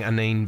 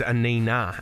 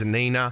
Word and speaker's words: Anine: Everyone's been saying Anine Bing. Her name is Anina, and she just wants to tell everyone, my name is Anina. Please call me Anina.